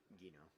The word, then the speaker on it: Gino: Gino or Gino? Gino. I said Gino because Because it's Gino!